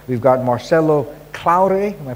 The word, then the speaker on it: Marcelo Claure: And last but not least, to our far right, we've got Marcelo Claure, am I pronouncing it right?